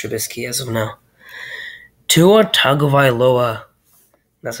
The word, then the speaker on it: Tagovailoa: i'm giving mitch trubisky as of now tua tagovailoa that's how you pronounce it by the way tagovailoa to our tagovailoa is as of now um